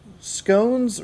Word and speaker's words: scones: March Hare informs me that in educated circles, scones rhymes with bones, like Saconas?